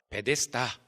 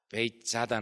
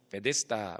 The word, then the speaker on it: 베데스다: 타잉 이라는 지명이 등장하는데 이 단어를 함께 읽으면 아 헬러 발음으로 베데스다 바로 읽을 수 있습니다 그래서 베데스다 베이 짜다 나 에쎄 다가 아님 베데스다 로 있는 것이 더 옳은 것 같습니다 그런데 이때 베데스다 에